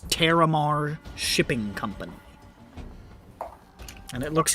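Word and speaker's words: Taramar: Terramar.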